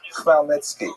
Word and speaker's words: Khmelnytsky: Chmielnicki, it's completely wrong. This is just the way it's written in Polish, And if you understand Polish phonetics, you'll know that it's pronounced Khmelnytsky, which is also not so easy to pronounce, but that's not our job at any rate.